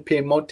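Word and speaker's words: Piemonte: english so that might be the english uh pronunciation pimote is the italian and pier mole spelt the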